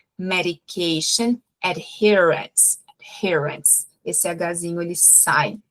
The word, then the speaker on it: adherence: A gente tem um H ali antes do her. Então, esse H ele vai sair também, tá? Então, quando eu vou falar de adesão à medicação, é medication adherence.